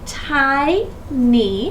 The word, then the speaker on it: tiny: of a two-syllable word what sound does y represent when it's at the end you got it long e if I want to